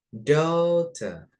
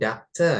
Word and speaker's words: daughter: Boleh dibaca daughter. Atau kalau versi British ya, daughter gitu kan. Nah, tapi boleh ya untuk kita di basic kita bacanya daughter. Daughter. Jangan doctor ya. Kalau doctor is dokter. Kalau doctor itu dokter. Tapi ini daughter.